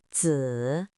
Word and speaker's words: 子: It is pronounced in the third tone. Repeat after me. 子, 子, 子.